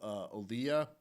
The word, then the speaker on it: Olija: I checked out Olia, which is like an independent game published by Devolver Digital.